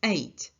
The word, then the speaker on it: ate: But the irregular past form of eat is ate. And it is pronounced as the number 8.